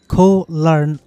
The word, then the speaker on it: Koh Larn: আসলে এটিকে সবাই সচরাচর কোরাল আইল্যান্ড বলে থাকে তবে এটি সঠিক যে উচ্চারণটি হচ্ছে কোলার্ন আইল্যান্ড সো কোলার্ন আইল্যান্ড হোক